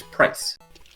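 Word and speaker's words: Pryce: have kept it his name is price for it rhymes with ice yes well we've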